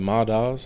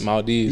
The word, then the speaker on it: Maldives: to say that uh ideal vacation um the ma dolls I think that's how you say it or the Maldives Maldives yeah okay that's a good one yeah I